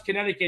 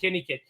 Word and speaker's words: Connecticut: He couldn't pronounce Connecticut. He said KittyKit.